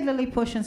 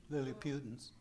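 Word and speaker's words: Lilliputians: me the other day I I was saying that wrong how do you say Lily pushings in English Lily putins Lily putins okay in Spanish you say Lily pu um then so you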